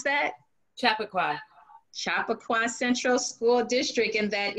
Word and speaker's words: Chappaqua: for that name is it how do you pronounce that chappaqua chappaqua central school district and that is in new